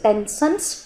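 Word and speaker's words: Stenson: are called tenson duct don't pronounce the S tension duct duct of sublingual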